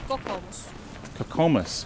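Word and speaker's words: Kokoomus: Kokomus.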